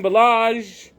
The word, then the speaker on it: Ballage: And then Kalen Ballage, the guy whose name rhymes with garbage, dropped a pass where he could have walked in the end zone.